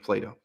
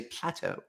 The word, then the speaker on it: Plato: way some people complain that's the standard American pronunciation of Plato all right Plato we don't say Plateau Plateau I was reading